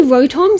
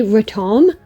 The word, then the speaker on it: Rotom: Rotom, some people say Rotom, some people say Rotom. It's one of those things where it's not a completely different pronunciation, it's more just a difference in which syllable you stress. But anyway, that thing with